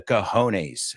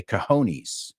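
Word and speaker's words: cojones: these companies by the coones as you say in Spanish oh and by the way that's a word we all know in English we just don't pronounce it like you we say coonies we'll take a look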